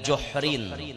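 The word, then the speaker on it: جُحْرٍ: Wa ata ala juhrin saghirin, dibacanya dengan juhrin. Juhrin al-hujur bi dhammil jim.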